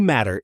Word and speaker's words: matter: Another flap t example. Matt becomes mad dares in relaxed speech.